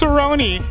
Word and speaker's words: Cerrone: don't know who Rick story is but Donald Cerrone Cerrone Cerrone know be be trying to correct you y y'all going to put it in the comment it's Cerrone sir pronounce it right no no no mess it